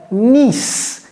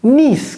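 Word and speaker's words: niece: ça se prononce comment Nice Nice comme Nice en France mais il y a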